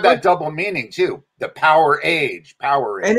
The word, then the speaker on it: Powerage: What's the correct pronunciation? I always call it Powerage. I think it is Powerage. Yeah, most people call it Powerage. I think the band has called it Powerage when they talk about it.